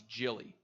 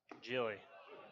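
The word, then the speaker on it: Hjelle: How would you think this name is pronounced? Spelled H-J-E-L-L-E. I had to look it up, and it's Gilly. Gilly.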